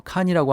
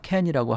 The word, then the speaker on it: Cannes: 그 다음에 우리는 보통 칸이라고 얘기하는데 영어로 발음할 때는 뭐 칸이라고 하기도 하다가 캔이라고 하기도 하다가 뭐 왔다 갔다 이렇게 발음하는 것 같으니까 두 가지 다 기억을 하시면 될 것 같습니다.